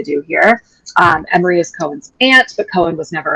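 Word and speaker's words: Koen: So, uh, Lo is spending the morning with I'm pronouncing this as Cohen. Does that feel okay to people or am I just a Jew? Nope, I'm good with that. Um, Lo is spending the morning with Cohen, who's an ally of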